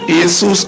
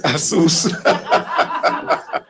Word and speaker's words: ASUS: And for those of us who previously mispronounced the word and called it ASUS or ASUS, you now know that it's ASUS.